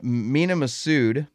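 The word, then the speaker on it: Mena Massoud: is a rumor going around right now that mina masood did i say his name right jay yeah uh mina masud who played aladdin in the live-action aladdin film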